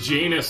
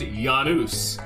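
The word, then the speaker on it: Janus: a like legendary game i actually used to pronounce this as genus until i knew uh that is um also a i think it's norris don't quote me on that mythology and it's pronounced yanuz giannis genus j oh by the way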